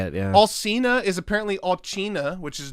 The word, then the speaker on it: Alcina: And they're in like, pronunciations. it's actually Lay. It's actually fucking... It's actually Alcina.